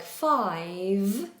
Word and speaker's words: five: So, when people say words like five, the mistake that's normally made is they make a second voiceless sound. So, they do five five and it should be vibrating on that second sound here in the throat.